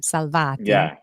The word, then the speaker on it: Salvati: I didn't get a chance to ask about your partner, Michele Salvati.